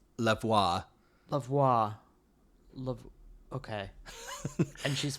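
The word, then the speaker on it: Lavoix: this person's name oh I wrote down a pronunciation key for this one because I was very confused it's lavoir lavois La okay and she's 40 43 from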